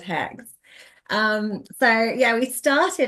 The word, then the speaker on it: H3X: I was like it's hex he was like good because h3x is a really weird name for a band I'm like why would you think that it looks like it says hex um so yeah we